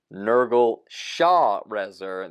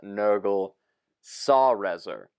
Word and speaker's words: Nergal Sharezer: We read Nergal Sharezer. This is Nergal Sarezer.